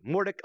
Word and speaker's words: Mordecai: right every single time Mordecai equals more duck more Mordecai Mordecai okay so it is Mordecai so I said it